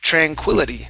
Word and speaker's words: tranquility: for tranquility okay so our stress is right here tranquility try that tranquility tranquility